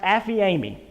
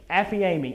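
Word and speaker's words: ἀφίημι: used throughout this chapter the first one is pronounced affy amy affiami and it is a word that means based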